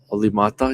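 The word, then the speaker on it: Olli Määttä: of course Melik and the way he used to say olimata. Loved it. Oly mata. Yeah. Pier Pierre's good on the Finnish pronunciation.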